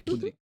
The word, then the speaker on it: Kudrik: É Kudryk que se pronuncia? Kudryk.